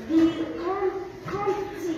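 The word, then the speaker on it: comptines: Nous chantons des cantines. Alors, est-ce que je dis des cantines? Des Des cantines. Le P, je ne le prononce pas.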